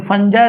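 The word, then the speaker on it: fungi: Bacteria या तो फंजाई के प्रेजेंट में रिएक्शंस होगा, क्योंकि फंगी बोलता है लेकिन फंजाई इसका मेन प्रोनाउंस होता है, फंजाई।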